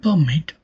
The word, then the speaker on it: permit: In the verb permit, the dress falls on the second syllable, that is mit.